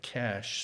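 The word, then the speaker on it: Kash: One of them is a guy named Cash, spelled with a K, Patel.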